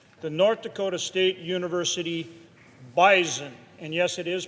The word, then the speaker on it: Bison: FCS national champions the North Dakota State University bisen and yes it is pronounced bison uh and anyone from bison Nation uh which